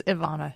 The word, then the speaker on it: Ivana: Is it Ivana or Ivana? It's Ivana. What Ivana.